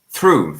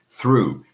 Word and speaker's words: through: Through. Thank you. Thank you, Dewish. Exactly. That's the one I was thinking of. Through. Through has a silent GH.